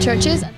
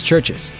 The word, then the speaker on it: Chvrches: We are a band called Churches. It's Churches. Just Churches. Double V equals W.